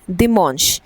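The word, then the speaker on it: dimanche: The last one is Sunday we से इट ऐज़ दमोंश सो डी आई एम ए एन and then C एच ई सो दी मश।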